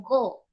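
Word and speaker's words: 五: El 5 se pronuncia en japonés como go, entonces es como un go, vamos.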